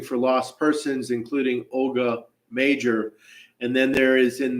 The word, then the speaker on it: Mauger: you search the document for m g r malgar but properly pronounced major you'll see and and and of course this